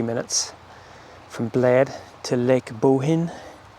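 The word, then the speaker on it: Bohinj: from Bled to Lake Bohin. We've been pronouncing it completely wrong up until now. Apparently in Slovenia, if something has a J at the end, you don't enunciate it.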